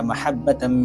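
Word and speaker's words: مَحَبَّة: এই আয়াতের মধ্যে মাহাব্বা এই শব্দের মধ্যে হা আছে, অর্থাৎ বড় হা আছে। এই জায়গাটাতে হা উচ্চারণ করতে হবে। হার জায়গায় যদি ছোট হা অর্থাৎ হা যদি উচ্চারণ করেন তাহলে অর্থ পরিবর্তন হয়ে যাবে।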